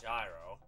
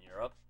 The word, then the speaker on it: gyro: close enough but you're it's pronounced the same way you would pronounce like the currency from like some places in europe euro hello wow there are